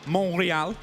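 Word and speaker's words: Montréal: the thing is obviously here in monreal as it's pronounced by Milos as he's just walked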